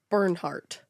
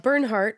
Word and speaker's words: Bernhardt: Bernie has a hard name to say because his real name is Bernhardt. Bernhardt. I always want to pronounce the D like Bernhard.